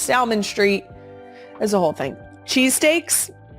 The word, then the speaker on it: Salmon Street: Polish Meats is on Salmon Street, Salmon, as in the fish, but it is Salmon Street.